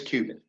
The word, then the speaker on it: Cubitt: My guest today is Cubitt. Is it Cubitt or Cubitt? I never checked, actually. It's Cubitt.